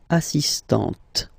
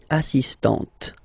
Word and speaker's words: assistant: So don't pronounce the final T here, but for the feminine form, elle est assistante. Okay? Étudiant, étudiante, assistant, assistante.